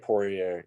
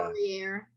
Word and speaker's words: Poirier: I don't even know how do you pronounce it? Poirier, yeah. Poirier.